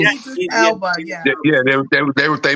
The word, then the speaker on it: Elba: because I think they're going to get Idris Elba. That's how you pronounce his name? Yeah, Elba.